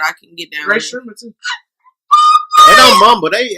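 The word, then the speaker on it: Rae Sremmurd: How you say it? Ray Sherman? It's like drummer backwards. It's drummer's ear backwards.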